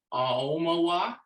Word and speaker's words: Aomawa: The sort of entry level way is to sort of have a glottal stop between the A and the O so that it sounds like Aomawa.